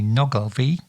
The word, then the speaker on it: Nuckelavee: misfortune to encounter called the Nagas v though it's spelt knuckle v is to be found